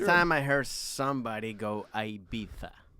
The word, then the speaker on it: Ibiza: like you don't but he's pronouncing the i like in in american but it's you got to pronounce the i like in spanish which is ibiza there it is ibiza